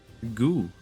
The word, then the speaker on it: God: That word says go. Goo. The D is silent.